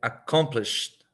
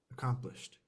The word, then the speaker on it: accomplished: pronounce this one accomp accomplished accomplished there's like a t at the end accomplished again oh yeah try